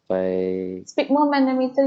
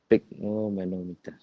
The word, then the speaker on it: sphygmomanometer: I don't know how to pronounce this one, ma'am. Sphygmomanometer, you say? Sphygmomanometer.